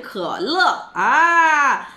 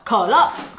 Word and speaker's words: 可乐: Okay, kele, kele. Pusu kele, se ke, ke, i, ke, i, e, e, e, l, i, le, le, le, le, le, le, le. Ke le. Ke le, bukan kele.